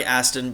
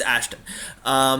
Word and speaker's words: Ashton: Aston or Ashton? I like Aston, but it's Ashton.